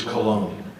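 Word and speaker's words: Colón: My poor kids, even my son, Brandon, is like, dude, it's Cologne, right?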